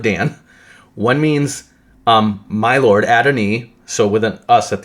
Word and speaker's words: Adonai: It's Adonai-us, and that's exactly how you pronounce Adonai. It's the I is actually pronounced E in Hebrew.